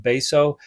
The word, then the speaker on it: Betio: Number 14, this is the island of Beso, which is spelled like Betio, but is pronounced Beso.